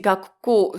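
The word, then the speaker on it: 学校: You see gakko, so it naturally gets contracted. So gakko, okay? The ku becomes a little tu with the ko that follows, but it's still the Chinese pronunciation gaku.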